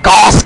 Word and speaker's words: Gauss: Yes, I say it like a German man. Gauss Cannon!